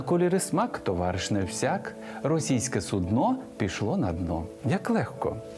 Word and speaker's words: судно: І посудина для лежачих хворих, і корабель все одно судно з наголосом на о.